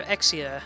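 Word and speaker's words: Exusiai: the voice actors here don't know how to pronounce Exusier's name. Everyone calls her Exia, and that's partly because of how it's pronounced in Japanese, I guess. But I don't know. I have a hard time calling her anything other than Exusier.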